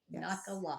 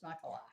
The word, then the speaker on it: Nachalah: A C H A L A H Nakala. Nakala. And it's sort of like Nakalot. If you want to learn, if you want to remember how to pronounce this Hebrew word, it's Nakala.